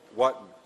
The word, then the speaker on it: Wotton: Is that how you pronounce it, by the way? Wotton.